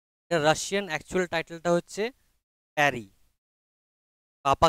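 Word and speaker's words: Пари: Russian actual টাইটেলটা হচ্ছে প্যারি পাপা কি পারিওয়ালা পারি নয় এর উচ্চারণটা হবে প্যারি বা পারিও বলতে পারো এবার একচুয়ালি এটার মানে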